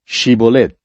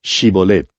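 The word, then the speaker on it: Shibboleth: Shibolet fue una palabra difícil de pronunciar para estos efraimitas. No podían pronunciarla con la H.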